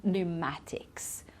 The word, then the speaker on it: pneumatics: P at all and here we say pneumonia so we don't pronounce the P and pneumatics right so try to